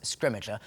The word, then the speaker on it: Scrimgeour: We have kind of eventually reached consensus on how to say his name, and we're going with Scrimmager.